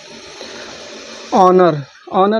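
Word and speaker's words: honour: देखिए ओ पहले आए, ओ के पहले आए यच हमेशा साइलेंट होता है। ओ के पहले आया यच हमेशा साइलेंट होता है। जैसे ऑनर मिस होता है सम्मान।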